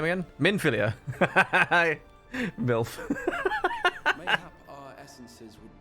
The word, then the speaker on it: Minfilia: again, and she's going to be like full-grown Milfinia. How do you say her name again? Minfilia.